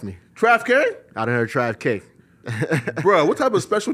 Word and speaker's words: TravQue: TravQue? It's crazy. You got it right. A lot of people, they say TravQue. I done heard it all. Trust me. TravQ? I done heard TravQue.